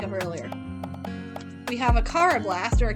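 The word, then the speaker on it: Karrablast: We have a Carablast, or a Carablast. Technically, English pronunciation, it would be Carablast. I know in the anime it's Carablast, but look, there's 2 R's. There's 2 R's, which makes it Carablast.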